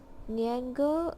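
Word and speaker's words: 年糕: Niango, also known as rice cake or New Year cake in English. Niango also has the same pronunciation as Gao, which is meaning tall or high.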